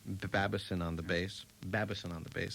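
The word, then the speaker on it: Babasin: piano, Barney Kessel guitar, Harry Babison, is that how you say it, or Babasson? No, Babison. Babison on the bass.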